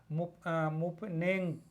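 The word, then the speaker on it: Mponeng: यम इसमें साइलेंट है, P silent है। मुपनेंग जो खान है ये गोल्ड माइन है, ये बहुत ही पॉपुलर खान है।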